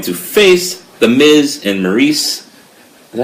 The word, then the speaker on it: Maryse: Bella are going to face the Miz and Maryse.